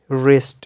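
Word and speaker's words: wrist: For example राइट, रिस्ट, wrong, कुछ भी जो आप एग्जांपल्स देना चाहे। देन साइलेंट H का आ जाता है कि द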